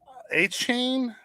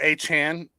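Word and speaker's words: Achane: A-Chain, I would probably get A-Chain or A-Chan is really how you say it, is a question mark because he's been hurt.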